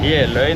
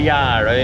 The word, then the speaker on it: Jeløy: Så jeg sier Gjeløy, noen ganger Gjerøy, noen ganger Jæløya. Gjelføen har jeg vel ikke sagt så ofte.